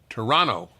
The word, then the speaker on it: Toronto: you say in Toronto Toronto they don't pronounce the second T you're from Toronto by